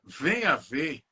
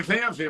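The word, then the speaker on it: Venha-Ver: E tem uma cidade chamada Venha Ver, no Rio Grande do Norte. A gente lê Venha Ver, mas na verdade é Venhaver, que errado.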